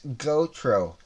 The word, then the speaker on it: Gotro: It's Gotro. Rhymes with GoPro, so it's Gotro.